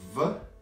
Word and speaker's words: в: Actually, we pronounce it like F sound. F. We don't pronounce it like V sound, but F. In everyday speech, like F.